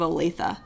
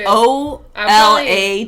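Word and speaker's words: Olathe: weren't from this area you would have no idea how to say the city of OA like it's o l a t h e you'd be like Ola yeah like I'm thinking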